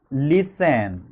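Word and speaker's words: listen: যেমন ফলোইং এর মত যে শব্দগুলো আছে যেমন লিসেন হ্যা লিসেন থেকে আমাদেরকে এটাকে লিখতে হবে লিসেনিং কারণ এখানে লি এর মধ্যে জোর পড়ে মানে শেষে যে লিসেন এখানে টি এর উচ্চারণ নাই লিসেন এই সেন এর মধ্যে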